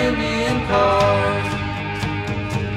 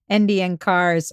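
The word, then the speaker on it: NDN Kars: In for those of you listening to the podcast version of the show, it's spelled NDN Cars with a K. Um, but of course when we say it, it sounds like Indian cars.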